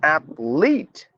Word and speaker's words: athlete: appetite appetite athlete not athlet is an athlet not athlet it's athlete analyze not analyze analyze